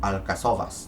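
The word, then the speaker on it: Alcáçovas: Bueno, que esto se pronunciaría como Alcazovas, ¿no? Alcazovas. Espero que sea así.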